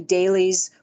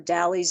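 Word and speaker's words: DALYs: on this about how many dailies or dies depending on how you pronounce it uh disability associated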